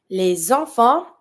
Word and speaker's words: les enfants: Les enfants, see I'm making the link because I have my vowel from enfant. I'm going to pronounce my S from les.